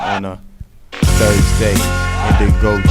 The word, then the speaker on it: Gndigo: Gndigo Jones. Yeah, the G is silent.